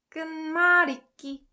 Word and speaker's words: 끝말잇기: So the ultimate pronunciation is like this. 끝말잇기. This ut softens to 은 when it meets mium. And this lier and iun gets connected, so it's li.